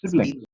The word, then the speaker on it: siblings: l i n g then you are not pronouncing it correctly you are pronouncing it like civilians right whereas it is Siblings siblings sibling siblings okay